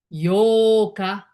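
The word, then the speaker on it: 八日: So the pronunciation is yoka, yoka.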